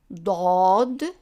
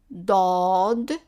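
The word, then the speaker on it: ضاد: of this letter is dodd repeat after me dodd dodd and the sound of it is do so it's like a d but pronounce in the back of the mouth as an example i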